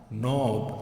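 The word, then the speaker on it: knob: मॉब, और ये होगा नॉब। अब नॉब इसलिए क्योंकि ये के, तो आप सर बोलोगे के जो है इसका, तो ये साइलेंट होगा यहाँ पे, नॉब नहीं होगा, नॉब होगा।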